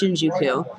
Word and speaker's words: Shinjuku: But so right now we just got back from Shinjuku, which I pronounced wrong in a previous video. Now I feel kind of stupid, but it's Shinjuku.